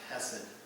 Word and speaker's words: hesed: This is a Hebrew word that's used all through this story, and it's pronounced, in English, it's pronounced hesed.